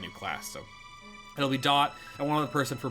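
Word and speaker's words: Daught: We have, I want to say his name is pronounced Dot, D-A-U-G-H-T from Midwinter.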